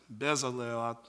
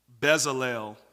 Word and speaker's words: Bezalel: work in every craft i said that's bezel sorry for that guys i don't know how to pronounce that one bezalel i believe the lord filled this